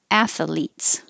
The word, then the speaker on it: athletes: So it can be two syllables. Athletes. You have to pull your tongue back in from the TH to make an L. Athletes. Or you can have three syllables. Athletes. The first one is most common.